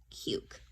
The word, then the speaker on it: cute: that's silent so again this is a silent E and it tells its neighbor say your name this name is you you cute and we have another